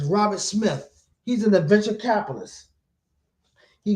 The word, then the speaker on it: Robert Smith: I had mispronounced his name in the last video. It's Robert Smith.